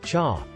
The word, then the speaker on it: chá: For example, in Mandarin Chinese, it is pronounced cha, while in Hokkien, a dialect spoken in Southeast Asia, it is pronounced te.